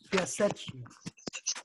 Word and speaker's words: Piaseczno: This is how it's pronounced in Polish, because nobody who studies this person can pronounce his name. Piaseczno.